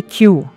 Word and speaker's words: Q: Il faut prononcer Q à l'anglaise.